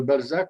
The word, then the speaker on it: Balsac: Alors, avant que quelqu'un se le demande, le Balzac, c'est les lettres initiales d'un certain nombre de régions du Québec. Et puis, le S, j'ai toujours prononcé Z pour avoir une référence à Balzac.